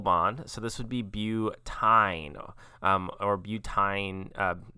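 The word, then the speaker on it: butyne: so this would be butyn or butane you could probably also pronounce that butene but uh you would want to make sure you spell it with a y this is also not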